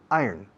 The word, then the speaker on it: iron: Se escribe iron, se pronuncia iron.